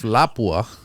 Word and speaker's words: Lapua: ultramag but then obviously Lapua is now making breasts for it and and it helps to have that nice brass doesn't it if Lapua I might as well say it correctly if Lapua uh makes